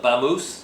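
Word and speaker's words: Bangus: g u s Bango she pronounced it Bango Bango B Mo now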